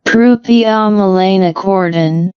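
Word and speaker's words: proopiomelanocortin: So examples include proinsulin, precursor to insulin, what's the pronunciation here? Propionmelanocortin.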